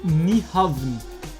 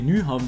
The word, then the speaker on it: Nyhavn: Und Niehaven. Yes, baby. Wir haben's. Und wir sind da. Niehaven, Kopenhagen. Okay, wir gehen jetzt nach Kopenhagen. Und ich denke, Nyhavn. Okay, Nyhavn wird das ausgesprochen.